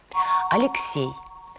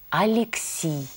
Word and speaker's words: Алексей: Например, «Алексей». В церкви произносится «Алексий».